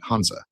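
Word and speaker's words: 汉字: We just pronounce it Hanzi.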